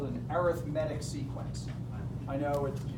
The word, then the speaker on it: arithmetic: one term to the next that's called an arithmetic sequence I know it spelled the same as arithmetic but it's pronounced arithmetic just is we'll spend a lot more time